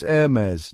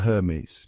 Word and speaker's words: Hermès: It's Hermes, not Hermes. No H sound, no SS at the end, just a smooth and sophisticated Hermes. It's all about that French flair, like the beginning of error and mez rhyming with fez.